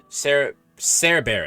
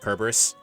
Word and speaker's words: Cerberus: Cerberus. Excuse me. Cerberus. Is it Cerberus or Cerberus? Okay, no, this is Cerberus. Technically, did you guys know that Cerberus is technically pronounced Kerberos? Technically, it's pronounced Kerberos.